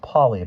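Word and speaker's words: Poly: I'm Polly, pronounced Polly, but spelled with one L.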